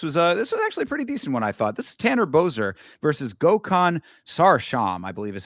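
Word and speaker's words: Sarıçam: This is Tanner Boser versus Gokhan Sarsham, I believe is how they pronounce that name. It's spelled Sarikam, but it's I believe pronounced Sarsham.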